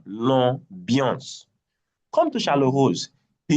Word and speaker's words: l'ambiance: Come to l'ambiance, AM is pronounced as on. IAN is pronounced as un, l'ambiance.